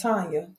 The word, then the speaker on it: Tanya: part of my first name is La it's pronounced Tanya t a n y a um even though